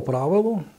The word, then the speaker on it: правило: В давньослов'янські часи господарські діяльності людей того періоду використовувався інструмент, який називали «правилом» з наголосом на букву «и».